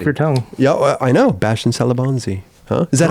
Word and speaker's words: Bastien Salabanzi: here rolls off your tongue yeah I know bastien salabanzi is that how you pronounce it though in that's it that's it